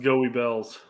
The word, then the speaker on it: Goebbels: In English, it's pronounced Goey Bells.